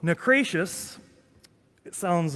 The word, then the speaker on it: Naucratius: porch in texas so necros it sounds uh rhymes with goodness gracious okay was a saint